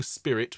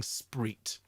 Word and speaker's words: spirit: for two syllables so here we don't sing spirit we sing spreet in the spirit of truth okay i know spirit